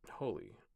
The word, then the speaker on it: Holi: Is it Holi? How do you say it? Excuse me. H O. That's disgusting. Don't burp like that. Holy. Holly. Pronunciation. Holy.